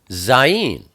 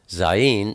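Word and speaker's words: zayin: something next we have zen zen is the number seven and it's pronounced z z like Zoo it's a picture of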